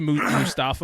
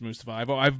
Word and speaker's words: Mustafa: He used to be Mustafa Ali, and everyone's like, "Oh, that's his name." Then one day he's like, "No, it's actually pronounced Mustafa."